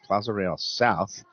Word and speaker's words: Plaza Real South: It's not Plaza Real. It's a Real Plaza. Very Real. fancy. South. Okay. Plaza Right. Real South. South. Plaza Real South You'll find it.